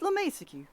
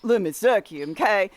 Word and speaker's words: LeMiseque: of the way first a lot of folks mispronounced my last name let me suck you but that's not right it's la mesa q la mesa q not le misucci it's french certain people already know